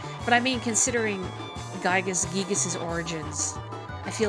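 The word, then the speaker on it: Giygas: earthbound is gigas but i read um a line from the head translator marcus lindbloom a while ago and he said the intent was to pronounce it gigas but whatever guys giga's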